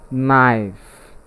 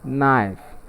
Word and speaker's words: knife: have the word called knife and take note in the pronunciation of the word knife the letter k is silent and that's why we